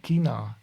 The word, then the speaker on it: China: thought also so so some people from the north of Germany that's all they don't say China they say Kina and so they they pronounce it CH sound like so they say Kina instead of China angry Germans sound funny